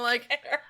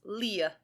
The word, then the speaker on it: Li: A lot of people just pronounce it Vincent Li. But apparently, when I was looking at the pronunciation, it's got like a little after tick on it. It's Leah, or something like that.